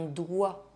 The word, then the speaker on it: doigt: Some words have more than one silent final consonant. Le respect, un doigt, le poids, le corps, le temps.